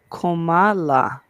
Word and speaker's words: Kamala: And we have here, um, Asia said it's pronounced like Komala.